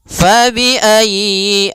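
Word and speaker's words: فبأي: Ya, ini sudah kita jelaskan pada ayat ee 23 yaitu fabiayyi ya ditekan y-nya. Fabiayyi ala jangan fabiayyi a jangan dipanjangkan ya. atau ayi ala tapi tekan ya ayy fabiayyi ala kemudian pada lafal a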